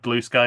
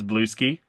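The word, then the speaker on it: Bluesky: We have Heather Heather Patterson, yes, has has criticized our our pronunciation of blue of blue sky as blue ski to which I responded and I hope she she appreciated this reference.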